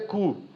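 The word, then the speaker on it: Koo: mas a pronúncia com 2 Os é cu.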